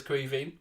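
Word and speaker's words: Caoimhín: ball back to queeving for anyone wondering by the way because i know crevey queen a lot of people aren't sure how to pronounce it and stuff but it's the irish word for kevin you could call him kevin kelleher but his name is grieving here comes costas now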